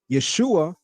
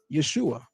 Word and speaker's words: Yeshua: And the shin is vocalized as shu, not sha.